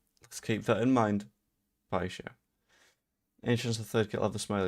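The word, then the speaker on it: Paixão: I can is because the amount of people that are like, it's Paxio, Paxao, etc. No, it's not. Pie show. Let's keep that in mind. Pie show.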